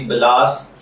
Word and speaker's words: بلاس: بل، لام الف لا اور سین ساکن یعنی بلاس، جبکہ انگلش میں اس کے سپیلنگ BALAS کے ساتھ کیے جاتے ہیں۔ جنسی